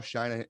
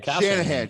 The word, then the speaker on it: Shanahan: francisco against the cardinals exactly um kyle kyle china i keep what the is how you say shanahan shanahan jesus christ i got a